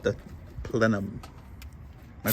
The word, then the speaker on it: plenum: And it's called the plenum. Am I pronouncing that correctly? Yes. Plenum. Plenum. Plenum. I want to say plenium.